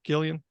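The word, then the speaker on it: Cillian: Murphy how do you say his first name Killian yeah yeah so but the thing is like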